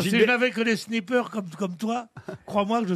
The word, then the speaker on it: sniper: Non, mais en plus, Non, si je n'avais que des snipers comme toi, crois-moi que je sortirais sans gilet pare-balles. Hein. Des snippers. Des snippers.